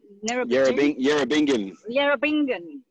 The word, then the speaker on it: Yerrabingin: How do you say it? Yerrabingin. Yerrabingin. Like singing.